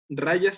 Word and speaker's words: rajas: rayas y está más rayas se escribe con jota rajas sato a rayas y